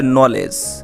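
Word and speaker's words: knowledge: তারপর দেখো এ জায়গায় দেওয়ার লেখা হচ্ছে নলেজ। আমি উচ্চারণগুলো তোমাদের সুবিধার্থে সামনে এই লিখে দিয়েছি।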